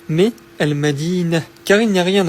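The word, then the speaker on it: المدينة: Par contre, s'il n'y a rien après le ta marbuta, donc autrement dit que la phrase se termine par un ta marbuta, eh bien on la prononcera comme un h doux. Je te donne un exemple pour que tu comprennes mieux. Si j'écris ce mot, al-madinah, qui signifie la ville, ici, on ne dira pas al-madinatu, mais al-madinah, car il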